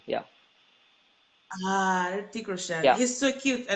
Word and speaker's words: Hrithik Roshan: I just The H is yeah, yeah. silent, so I mean, just say that Hrithik Roshan. Yeah. Hrithik Roshan.